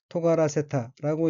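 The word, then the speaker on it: 尖らせた: 다음 어휘는 한자가 뾰족할 첨자이고 일본어로는 토가라세타라고 읽으며 토가라세타는 끝이 뾰족해지다라는 뜻의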